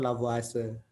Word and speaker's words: Lavoisier: atau mengelompokkan unsur itu lavoisier tulisannya bacanya biasanya kalau orang Perancis laiser itu Prancis kayaknya ya koreksi saya kalau salah bacanya itu lavoase jadi tulisannya lavoiser Tapi bacanya lavoase nah dia mengelompokkan unsur